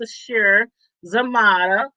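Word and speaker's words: Sasheer Zamata: And Sashir, I think her name is pronounced Sashir Zamata.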